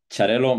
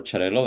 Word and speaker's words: Xarel·lo: no no more so charell might come from the Italian charell but it's quite recent on the way we pronounce it in in Catalonia yeah we also have another name for for chello that's also an important